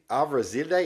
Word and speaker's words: Arveladze: You know how to say his name? Avrazide. It's Georgian.